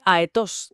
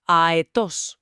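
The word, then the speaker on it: αετός: No se dice aetos de carrerilla, sino aetos.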